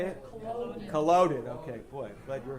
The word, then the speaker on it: Culloden: So just to get back to some of the history, this is the Battle of Cullidan. Is anybody familiar with this? Culloden. How do you say it? Culloden.